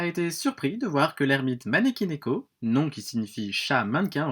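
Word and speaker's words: 招き猫: alors ermite manelli malik écoute bien ça se prononce maneki neko mais abel mois bernard c'est beaucoup plus rigolo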